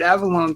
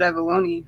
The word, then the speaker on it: Avallone: Did we realize we say his name wrong? I think we did. We've been saying it wrong. Yeah, we've always said David Avallone, but when we watched the video with him, he said Avallone, right?